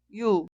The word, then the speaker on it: 유: La vocal de hoy se pronuncia y se llama 유, 유.